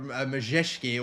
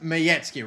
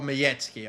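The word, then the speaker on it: Majecki: have already uh taken to uh bloody uh majeski or mizeki already in this uh in this team they've come up with a giant ass typo for him i know it's pronounced miyetsky right radishlore miyetzky i think i i need to get better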